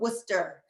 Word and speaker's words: Worcester: hartford connecticut and also i always pronounce this wrong and i'm in boston but worcester uh massachusetts i think i got it right this time um just want to